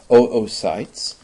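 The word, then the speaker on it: oocytes: Remember the pronunciation is oytes.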